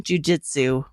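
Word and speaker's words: Jiu-Jitsu: I'm gonna finish this off by saying Brazilian Jujitsu the way it's supposed to be pronounced thank you everybody for listening Scott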